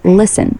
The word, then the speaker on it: listen: Listen, silent T, pronounced listen.